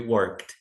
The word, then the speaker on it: worked: Sem pronunciar o e, we worked.